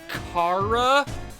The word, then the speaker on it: Chara: So, it's not Char, it's Cara because I've heard it three different ways.